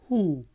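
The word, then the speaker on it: who: हु हु हु बोले हु W silent है हु तो तुम कौन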